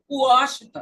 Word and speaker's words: Washington: Washington, é U.